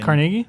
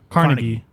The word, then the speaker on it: Carnegie: used to play there there's one in New York that's the real one right which is pronounced Carnegie well that's wrong that's how they well